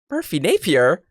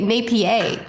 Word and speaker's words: Merphy Napier: And last but absolutely not least is the amazing Merphy Napier. How's it going? Welcome. Hey, you got my name. So many people say Napier when they when they guess on the pronunciation. But that was correct.